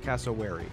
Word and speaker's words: cassowary: oh yep oh yeah how do you pronounce is it cassowary yeah hello Smithers you're quite good at turning me on cassowary okay good to know thank you um yeah